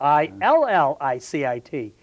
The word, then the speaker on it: illicit: There's also an adjective called illicit, which means illegal, and that's spelled I-L-L-I-C-I-T. But said quickly, Jim, that sounds alike, illicit, illicit.